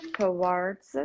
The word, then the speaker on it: towards: or opposition or opposition towards tort towards something do not pronounce do not pronounce w okay just drop it towards towards twerks now towards towards that's it okay towards um okay